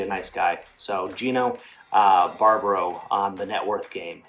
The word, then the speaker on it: Barbaro: We got Gino, and the last name is pronounced Barbaro, right?